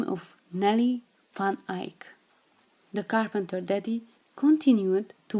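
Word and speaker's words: eik: the name of a which is pronounced Ike, and it's Dutch for oak.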